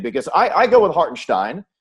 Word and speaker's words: Hartenstein: so so basket so basketball reference is correct with the phonetic pronunciation of heart and stein yeah okay so we need to let all of my colleagues know around the league that when isaiah is in a game it's stein not steen not stein stein